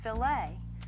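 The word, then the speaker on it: filet: It's pronounced filt.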